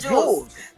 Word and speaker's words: Jules: No, like Jewel or Jules. I'm going to Jules. It's Jules. It's always been Jules.